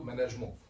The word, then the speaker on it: management: et que en fait ce terme de management est à prononcer à la française donc plutôt management ça c'est le petit anecdote